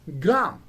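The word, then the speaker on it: Graham: g-r-a-h-a-m it is not gram but it is pronounced as gram gram right and another word where h is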